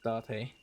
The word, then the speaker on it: Date: The Japanese pronunciation of the word. It's not date. It's D.